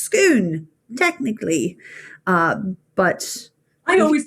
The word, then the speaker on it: Scone: form of gaelic from which it drives is pronounced skoon technically uh but i always thought it was scone i know exactly what you're talking about it's